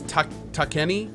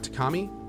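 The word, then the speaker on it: Takemi: So here's the, oh, it's Takeni, not Takami.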